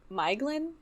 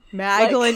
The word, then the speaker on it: Maeglin: thing is that, like, it says in the back that the AE put together like that, it's, like, are combinations of the individual vowels, but AE may be pronounced in the same way as AI, and OE as an English toy.